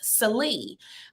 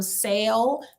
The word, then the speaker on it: Sallee: with my last name my last name is pronounced silly I heard everything from sale to saley to Sally um but nowadays people